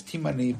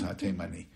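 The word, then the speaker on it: הַתֵּימָנִי: I know there are people who pronounce it not as Temani, as Timani, but we have a Temani daughter-in-law, so this is ha-Temani.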